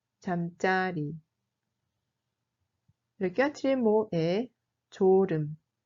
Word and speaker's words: 잠자리: Alors que si le mot signifie l'endroit où on dort, dans ce cas, la prononciation change. 잠자리. 잠자리.